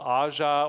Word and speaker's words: AJA: It's by a company called Aja, or AJA, depending on how you want to pronounce it, Key Pro, Aja Key Pro.